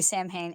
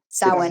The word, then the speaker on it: Samhain: Well, because it's in that whole, like, if you look at SAMHAIN, as an American, you want to say Samhain, and it's like Samhain. It's Yeah. Samhain, Yeah, yeah.